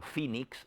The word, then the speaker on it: Phoenix: H se forma F, como por ejemplo Phoenix es PH y se pronuncia como F, de igual manera en